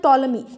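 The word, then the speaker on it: Ptolemy: किसने लिखा है, तो टॉलमी, यहाँ पर पी जो है ना वो साइलेंट है, तो किसने लिखा है, टॉलमी ने लिखा है, टॉलमीज एल्मेगेस्ट।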